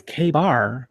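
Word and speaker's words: KA-BAR: Is it not pronounced? I mean, this is a It is K-bar, but I didn't know that it was spelled Kabar.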